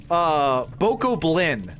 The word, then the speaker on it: Bokoblin: Goblin with a Bach instead. Bokoblin. Bokoblin these nuts.